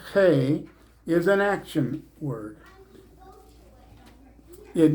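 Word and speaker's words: ה: with the letter the the Jews pronounce the letter hey as though they're clearing their throat hey uh in English we would just say hey but that sounds too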